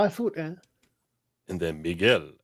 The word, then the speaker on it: Miguel: You pronounced Miguel properly.